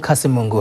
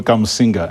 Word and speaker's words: Kamusinga: Friends School Kasimungu, hopefully I'm pronouncing it right, sir. No, Friends School Kamusinga. Kamusinga. That's right.